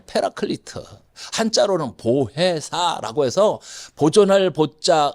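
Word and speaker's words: Paraclete: 성경에는 여러 가지 이름 중에 하나가 보혜사인데, 이 말은 히라보로 파라클레이토스란, 영어식 발음으로는 페라클리트, 한자로는 보혜사라고 해서 보존할 보자, 은혜 해자, 스승사, 가르칠 사자입니다.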